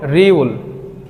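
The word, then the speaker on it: 리을: না এটাকে করি আমরা বলে রিউল রিউল রিউল এটার মূল উচ্চারণ হবে র দেন আমরা যেটা দেখতে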